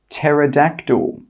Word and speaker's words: pterodactyl: The letter P is normally not pronounced when it's at the start of a word which starts with PN, PS, or PT. Some example words are pneumonia, psychology, pterodactyl. In all of these words, we are not pronouncing the P. It is silent.